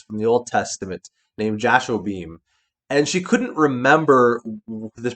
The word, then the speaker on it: Jashobeam: So I jokingly said, well, So just imagine me sitting there with two laser guns going pew pew pew as Jashobeam.